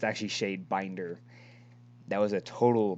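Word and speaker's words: Shadebinder: bringer but it's actually shade binder that was a total mispronunciation on my half whoops miss pronunciation that's the wrong word dude no i just added i just added an extra r to it sure sure we'll go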